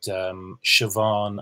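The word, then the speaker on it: Siobhán: examples, like Sean and Siobhan and Sinead and Seamus. They all begin with a sh because they're S-I or S-E.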